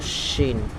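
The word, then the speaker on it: ش: তারপর হলো শিন, জিহ্বার মধ্যখান তারপর অপর উপরে তার সঙ্গে লাগাইয়া, ঠিক আছে, শব্দটা শিন শিন।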